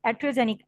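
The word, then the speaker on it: iatrogenic: इट्स एटियोजेनिक, आई इज a silent, so एटियोजेनिक death.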